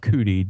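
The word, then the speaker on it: Cudi: cases is pronounced Mount cudy depending on what language you're speaking they can't pronounce the J so they pronounce it with a c sometimes but um this is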